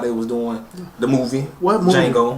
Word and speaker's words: Django: on the web saying Django and it was like like a few weeks ago I'm like it he even tell you the movie The D is silent and they they ignant